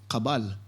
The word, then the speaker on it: Cabal: uh talking with albert how do you say your last name fully kabal kabal okay yeah like the cabal like the cabal yeah